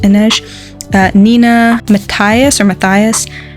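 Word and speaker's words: Inej: uh teenagers there's Cass Ines I think it's pronounced Ines uh Nina Matias or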